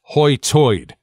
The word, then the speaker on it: high tide: It's pronounced hoitoid, like the center sound is a British pay attention oi instead of a hard I.